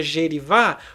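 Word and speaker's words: jerivá: correta Olha aí gerivá você sabe que se pronuncia gerivá porque agora a gente tem o assento marcando a sílaba tônica quando o acento está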